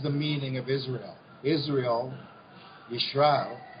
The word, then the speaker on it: Yisrael: Israel, Yisrael. Now there's contention because it's pronounced Z or S and not Sh, the Shin, the letter there.